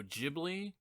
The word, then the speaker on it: Ghibli: For the longest time, I said Studio Ghibli. It's spelled with a G, and it's kind of reminiscent of the GIF debate. So anyway, that's something I learned recently, that I was pronouncing it wrong my whole entire life.